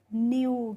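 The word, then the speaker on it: new: एन ई डब्ल्यू है तो एन से हम बनाएंगे यहां पे आधा न और ई डब्ल्यू का हो जाएगा यू। तो ये हो गया न्यू।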